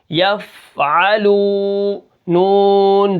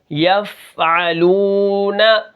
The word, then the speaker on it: یفعلون: کس طرح ہوں گے، یا فا زبر یف، عین زبر ع، یفع، لام واو پیش لو، یفعلو، نون زبر ن، یفعلون، وقفن یفعلون۔ اب یہاں پر آپ